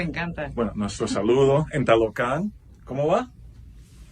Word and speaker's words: Talokan: Talokan is how you say it.